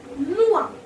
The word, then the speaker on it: noir: Black we pronounce noir. Black says N-O-I-R. N-O-I-R. Noir.